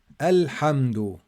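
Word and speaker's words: الحمد: to the next ayah al hamdu ah here we pronounce the hamza because i'm starting it's in the beginning and i i'm starting with it i didn't join rahim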